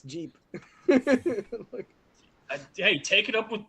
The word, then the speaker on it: Jeep: So, here's Jip. And that is the weirdest way how to mispronounce Jeep.